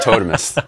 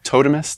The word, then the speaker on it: Totemist: know yeah so let let's talk about totus okay am I saying it right too by the way totemist the totemist yeah okay yeah yeah uh